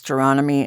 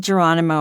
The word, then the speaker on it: Gironimi: And of course, Geronomy is incredibly difficult to spell and pronounce, which is why I say it always rhymes with astronomy. Um, if you yelled Geronimo at me, I'm just so over it.